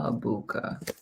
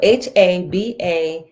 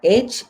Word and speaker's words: Habakkuk: How do you spell Habuka? And I'll spell it for you. Oh, kind of butchered it. So it's H-A-B. Okay, so Habakkuk. That's Habuka. Yeah, Habakkuk.